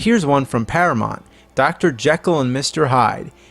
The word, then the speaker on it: Jekyll: Jekyll and Mr. Hyde. In this movie it's pronounced Jekyll, but whatever.